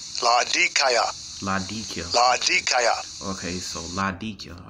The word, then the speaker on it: Laodicea: Okay, so Laodicea. All right, so that's how you pronounce it correctly.